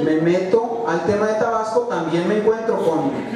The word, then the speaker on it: Tabasco: Tabasco, yo soy tabasqueño, yo sí pronuncio la S. Bueno, a veces se me va, ¿verdad? Mi mujer me critica porque a veces platicando con tabasqueño se me va y digo Tabasco, pero bueno, o tabasqueño.